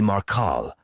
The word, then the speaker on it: Maral: tell you my name you can call me maral it's simple two syllables and straightforward maral LED them away